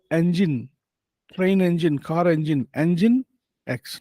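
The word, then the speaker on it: Nginx: logic then you have inex it should be pronounced as Engine train engine car engine engine X not engines engine X then uh then you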